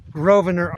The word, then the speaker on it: Grosvenor: and told me that Grosvenor Arch the S is silent so I've been saying